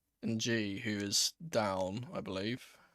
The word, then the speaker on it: Ng: I was going to say, like, I heard the commentary pronounce his name NG, and I've never heard that name pronounced that way, but apparently that's the way he pronounces it, because it's the way people have always called him.